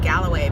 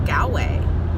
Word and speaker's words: Galway: And apparently people pronounce the name wrong, call it Galloway Bay. And I'm like, Galloway? I'm like, there's no extra letters in it. It's Galway.